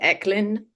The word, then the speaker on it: Echlin: And the last name is Echlin, Echlin. hard K.